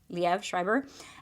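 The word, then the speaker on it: Liev Schreiber: to say his name I think it's leev Le leev shriber um and I think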